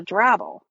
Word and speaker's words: drabble: And then discovered, hey, there's this thing called a drabble, which kind of rhymes with apple.